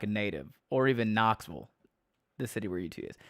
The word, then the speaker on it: Knoxville: How do you say Sevierville like a native, or even Knoxville, the city where UT is? So yeah, there's no vills in Tennessee. It's vull. I think so. Knoxville is Knoxville.